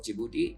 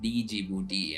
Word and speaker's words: Djibouti: First thing first is I've been dealing with Djibouti which which most of the Indian calls it calls it pronounce it Djibouti and I would like to be clear it's Djibouti and not Djibouti.